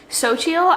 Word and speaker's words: Xochitl: It is pronounced xochitl.